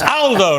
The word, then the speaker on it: Aldo: picked me up but it's Aldo not older Aldo's a very British pronunciation in Italian uh good to see